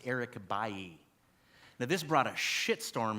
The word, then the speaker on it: Eric Bailly: But this is not Eric Bailey, as you might pronounce it. He's a French man from Ivory Coast, and his name is pronounced Eric Bailly.